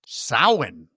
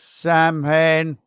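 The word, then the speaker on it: Samhain: And I'm like, "Nope, it's pronounced sin, everybody." And they just That would have been awesome if he's like, I know it looks like it says Sam Hayne, but the Celtic pronunciation is sin.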